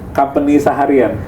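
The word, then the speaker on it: Compagnie Saharienne: Company Saharian. Oh, company Saharian kan soalnya tulisannya Prancis banget kan itu.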